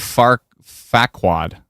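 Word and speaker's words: Farquaad: So, from now on, Lord Stormy Girl says it's Lord Far Facquad. Oh, it is quad. F A R Q U A A D. Aha. So, it isn't quir. It's quad. Okay.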